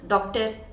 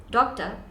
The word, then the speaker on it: doctor: an engineer so like it's not doctor and it's not engineer it's doctor no R in the nend doctor and engineer now the trick with